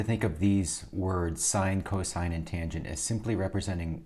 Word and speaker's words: cosine: the cosine of theta not pronounced cos pronounced cosine is equal to the